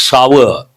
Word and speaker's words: sour: But people try people mispronounce this word. It is not sore, it is sour.